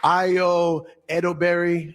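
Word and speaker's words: Ayo Edebiri: Io Edoberry, The Bear.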